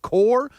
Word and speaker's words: Kerr: It looks like Kerr when you read it, but they say it core. And that's when we nicknamed him Hardcore because it made it easier to remember that it's pronounced core.